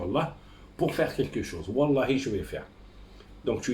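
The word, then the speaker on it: والله: Quand la lettre wa dans la langue arabe, elle est posée au premier de la lettre dans la prononciation, tu dis wa. Comme par exemple, tu jures dehors, tu dis wallahi.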